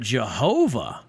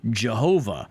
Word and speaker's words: Jehovah: be j-h-v-h but then when you insert the vowels because you can't just have all consonants then it would be Jehovah so this is a Germanic pronunciation of the latinized transliteration so here's my point